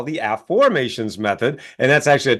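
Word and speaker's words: Aformations: well my book of a formations which you can see right here is that's my book from Hay House it's called a formations not affirmations so an AFF formation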